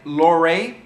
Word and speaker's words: Lorre: It's got Peter, I think I'm pronouncing this right, Lorre, L-O-R-R-E, who's a great Austrian-Hungarian actor.